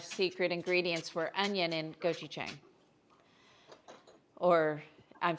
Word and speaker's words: gochujang: But I thought doing that mixed with a little honey and gochujang would be a great sort of bridge the gap here and also make them super flavorful.